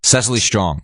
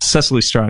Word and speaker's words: Cecily Strong: Cecily Strong. Cecily Strong, yeah.